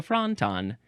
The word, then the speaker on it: fronton: It's like a wonton, but it's a franton.